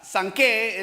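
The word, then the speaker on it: זקן: Pedro traduce la palabra ancianos, o sea, sanqué es en hebreo, suena como así, ¿verdad?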